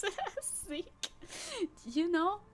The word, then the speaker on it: Zecke: Zeech. There's many fun pronunciations by Anglophones of Zecke, and that is fine.